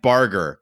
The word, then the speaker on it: Barger: 7 blessings, Matt Barger, Hard G, like Gendry.